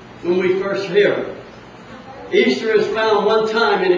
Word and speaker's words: Ishtar: Now, if you could say that it pronounces Ishtar, well, you would be wrong, because it's pronounced Easter, E-A-S-T-E-R, but it's spelled I-S-H-T-A-R, pronounced Easter.